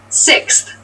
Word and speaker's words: sixth: Sixth. Sixth. Sixth. So sixth refers to the number 6 of something. This is a really good word to practice some pronunciation. Slow down that 6th, that middle part there.